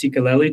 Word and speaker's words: Sikeleli: And and I think and we talked about this before we got on, but I think it's pronounced cicelli travel.